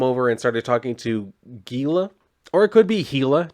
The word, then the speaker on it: Gila: like who you ask different people pronounce like gila monster differently i usually just go with gila some people pronounce a gila monster you could be a monster a healer monster or a beast whichever